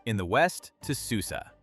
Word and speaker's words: Susa: Herodotus describes a royal road running from Sardis, pronounced Sardis, in the west to Susa, pronounced Susa, deeper in the imperial core.